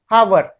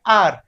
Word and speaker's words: hour: है वो है HOUR, लिखने में तो हम लिख रहे हैं हावर, लेकिन जब हम इसे बोलते हैं तो हम इसे बोलते हैं आर। हालांकि लिखा तो हावर है लेकिन बोल हम रहे हैं आर। तो इस कंडीशन में जो वर्ड है एच ये हमारा साइलेंट हो जाएगा, यानी कि वो लेटर्स